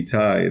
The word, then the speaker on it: Itai: you were calling me itai that it rhymes with yanai and they're like huh